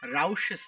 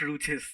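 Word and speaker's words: Rouché: do R theor uh pronounce it as Rouses theor not roues theorem okay and okay how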